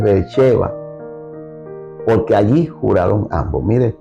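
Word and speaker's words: Beerseba: esto llamó aquel lugar Bercheva." Bercheeva. Eh, lo va a ver escrito porque normalmente se escribe Berceba, pero es eh e en el hebreo es Vercheva, porque allí juraron ambos.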